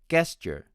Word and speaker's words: gesture: next word is g-e-s-t-u-r-e my friends from india tend to pronounce it as gesture gesture with the consonant of g and american friends pronounce it as gesture gesture with the counseling of g g i have been a